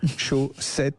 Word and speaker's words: Show 7: Alors euh, c'est la chaussette Ultimate, mais chaussettes, ça s'écrit S H Ow, c'est le show. Ouais. Show 7 avec le chiffre 7.